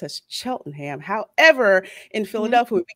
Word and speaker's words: Cheltenham: believe it was called um I believe properly pronounced as Cheltenham however in Philadelphia we call it Cheltenham so